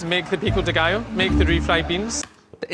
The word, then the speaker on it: pico de gallo: When you see a double L in Spanish, you don't pronounce it like 2 L's.